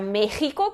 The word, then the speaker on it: México: Aí a gente tem, por exemplo, a palavra México, que é uma das dúvidas das pessoas, tipo, por que tem o som de J? Porque antigamente se escrevia com J, hoje não, mas ainda mantém-se essa pronúncia.